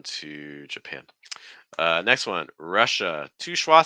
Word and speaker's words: Russia: thing here is that a lot of times students when they say this are using some a sounds like ah but it's uhuh Russia so it's not Russia it's Russia Russia okay um and again